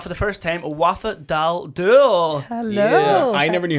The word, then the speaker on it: Daldoul: And we have for the first time Wafa Daldoul.